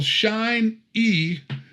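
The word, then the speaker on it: Shin-ei: The original Shine E, which is spelled SHIN hyphen capital EI Univibe, used by Jimi Hendrix,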